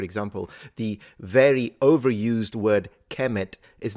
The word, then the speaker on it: Kemet: Was it pronounced Kemet? Maybe, maybe not. It's possible that it was pronounced Kumat.